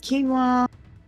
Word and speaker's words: quinoa: But like, it was one of those where it came with the dressing and it was, is it quinoa? Is that how it's pronounced? Quinoa, yeah. Yeah.